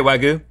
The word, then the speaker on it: wagyu: than wagyu frou-frou beef don't pronounce the y wagu which i think is actually proper is that right josh frou-frou wagu beef you say wagyu uh wagyu oh kiko nodded his head because it's japanese and it's correct i